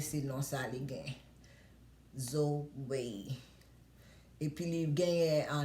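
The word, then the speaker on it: Zoï: Li prononce Zoé. Non bébé en relais Zoé. Bébé pas non pas prononcer français pour moun dire comme ça c'est Zo et pas Zo.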